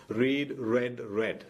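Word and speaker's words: read: പൊതുവെ വെർബ് ആയിട്ടാണ് മനസ്സിലാക്കുന്നത് റീഡ് റെഡ് റെഡ് അതിന്റെ സ്പെല്ലിംഗ് ഒരുപോലെ തന്നെയാണ് ഉച്ചാരണം മാത്രമേ മാറുന്നുള്ളൂ റീഡ് റെഡ് റെഡ് പക്ഷെ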